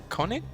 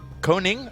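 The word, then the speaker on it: Koning: Do you know how to pronounce his last name? Um, Kevin, no. No, it's just K O right? So, Koig. Coning. Coning. Oh, okay. Okay. You're close, James. You're close.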